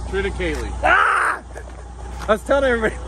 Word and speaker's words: triticale: It's triticale, right? Triticale. Ah! I was telling everybody last night that I hear it pronounced two ways. People either pronounce it triticale or triticale.